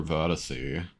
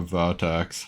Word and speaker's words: vertex: That's because the only time it paints anything is when it's over a verticy. or a vatax. Sorry, the proper way to say that.